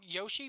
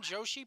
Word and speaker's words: Joshi: have a trial free I'm pronouncing this wrong Yoshi promotion Joshi promotion Jo Shi um no